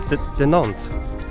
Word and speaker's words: Dinant: You're saying it wrong. You're trying to be all French now. No. It is Dinant.